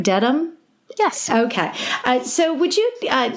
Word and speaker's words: Dedham: And Am I pronouncing that right? Dedham?